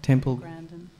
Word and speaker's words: Temple Grandin: Temple Grandin.